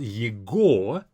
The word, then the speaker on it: его: Его, even though it's spelled его, we say его. As if this g is a v sound.